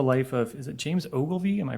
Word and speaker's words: Ogilvy: Nonfiction, uses the life of, is it James Ogilvy? Am I pronouncing that right? Okay, James Ogilvy, as a window into early American political and celebrity culture.